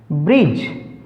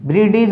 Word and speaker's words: bridge: ब्रिज, BRIDGE, ब्रिडिज नहीं, ब्रिज, D silent, ब्रिज।